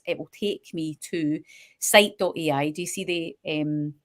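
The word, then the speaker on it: scite: on my computer and it's called site it's spelled s-c-i-t-e um and I think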